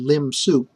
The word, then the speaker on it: lim sup: And in exactly the same way, to define the lim sup, that's how everyone pronounces it, we look at the supremum of the set considering only elements beyond element capital N.